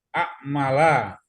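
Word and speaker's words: أعمالَ: Kata benda pertama a'mala, a'mal. Amala. A'mala ya. Amala bacanya Pak Iwan.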